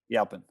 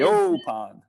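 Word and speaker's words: Yaupon: Yalpin, Yeah, yeah, Yopon holly.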